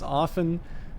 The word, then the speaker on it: often: the only other person who pronounce often without the T which is decidedly correct um it's one of